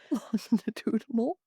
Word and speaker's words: longitudinal: Longitudinal.